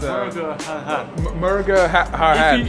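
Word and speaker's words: Murger Han: How do you say the name? It's Murger Hahan. If you know burger, you can imagine. Burger Hahan, Murger Hahan, right?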